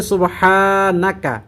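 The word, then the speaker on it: سبحانك: এই দোয়াটি রব্বানা বাতিলা সুবহানাকা এখানে সুবহানাকা মানে হা এর মধ্যে টান হবে সুবহানা এরকম টান হবে না এই ছোট্ট ভুলটি খেয়াল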